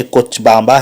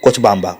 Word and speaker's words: Cochabamba: ये कोचबाम्बा है, ध्यान रखिएगा वर्ड्स को, क्योंकि बहुत सारे स्पेलिंग्स में जो है ना प्रोनाउंसिएशन गड़बड़ होती है, इसलिए मैंने इसको बार बार फोकस करना हो रहा है। कोचबाम्बा।